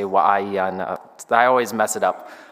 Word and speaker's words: Waianae: That's how you pronounce it. I want to say Waianae.